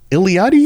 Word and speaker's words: Iliadi: the wellwa the illad iliadi iliadi is how you pronounce that yep just gonna let